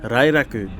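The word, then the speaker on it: ライラック: Okay, I have to say that the proper pronunciation is actually the Limited Express Lilac, or in Japanese, Rairaku, which is named after the lilac flower.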